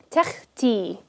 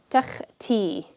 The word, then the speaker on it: takhti: Takhti. Takhti. Notice I'm pronouncing the kha with no additional like vowel attached to it. It's just kha.